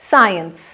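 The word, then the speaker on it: science: विज्ञान, जिसे अंग्रेजी में कहते हैं साइंस, यहाँ पे सी नहीं बोलेंगे, एस को स की साउंड के साथ बोलेंगे, साइंस।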